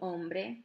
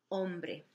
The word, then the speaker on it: hombre: hombre, hombre, había un hombre, don't forget your H's in Spanish at the beginning are silent, the H's are silent, so you wouldn't pronounce it, you could just start with the O, hombre, so había un hombre.